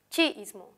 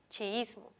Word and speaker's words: chiísmo: Si buscamos el acento en esta palabra, el acento está en la sílaba is, chiismo, por lo tanto es grave. No está en el chi, no decimos chiismo, está en la is, chiismo.